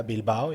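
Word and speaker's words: Bilbao: so we went to bilbow am I am I pronouncing that correct yeah bilau yeah um C Leon am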